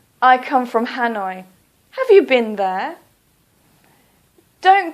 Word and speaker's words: Hanoi: hanoi please don't say ha noi please say hanoi or for example calcutta please don't say kolkata please say calcutta the reason that we